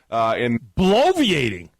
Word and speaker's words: bloviating: Bloviating? We're talking 4 syllables here. Bloviating.